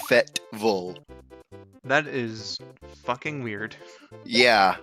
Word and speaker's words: Fayetteville: University of Arkansas resides, I call it Fayetteville. Apparently, it's pronounced Fetville. That is fucking weird. Yeah, I always saw it as Fayetteville.